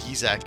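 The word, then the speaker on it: Yzak: I believe the pronunciation is Yizak.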